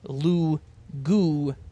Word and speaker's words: lugubrious: But it's lugubrious. And that's what Merriam-Webster said for the how to pronounce it. It's lugubrious.